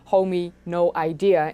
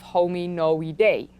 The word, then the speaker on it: Hominoidea: Of course, all of this started way back with the hominoidea, that I joked in that video should be pronounced as hominoidea instead of hominoidae.